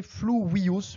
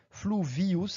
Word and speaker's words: fluvius: La prononciation correcte, c'est fluvius, mais si vous prononcez à la française fluvius avec un V français, cela n'a aucune importance, on vous comprendra très très bien.